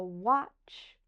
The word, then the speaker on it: watch: that same CH sound the t is silent so for this one I have a picture of a watch like this a watch